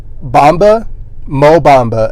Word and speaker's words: Bamba: the name of Mo Bamba, or his full name is Mohamed Bamba. So or Bamba. Sorry, I just had to think about that. It kind of rhymes with Mamba, but that just want to put that out there.